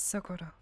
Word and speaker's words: Sakoto: I just want to make sure I'm pronouncing that right. Yes, Sakoto.